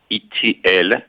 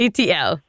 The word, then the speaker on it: Itiel: My name is uh doctor Itiel, and you pronounce Itiel like the letters E T I E L. You know the movie E.T. So, with an L. E.T.L.